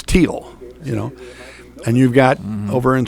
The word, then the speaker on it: Teal: You look at the girls from Newman, they pronounce spelled the very same way, but they pronounce it Teal. And I didn't think about it. The first time I did a Thiele girl from Newman, I'm pronouncing it Thiele. Gotcha. And their dad came down and said, no, it's Teal, And you've got over